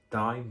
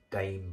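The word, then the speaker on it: Daim: for the longest time I thought it was pronounced dime bar but it's actually pronounced pronounced Dame bar anyway yeah a little bit of floral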